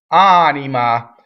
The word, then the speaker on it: anima: in there for beauty anima here's a good word for single consonant single and single M so the principle for